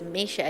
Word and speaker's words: Misha: You say my name is Misha. It's Russian. It's pronounced as Misha, but it's Misha.